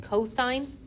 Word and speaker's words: cosine: So it looks like cos, but it's pronounced cosine.